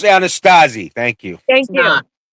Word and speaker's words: Anasazi: It's pronounced Anasazi.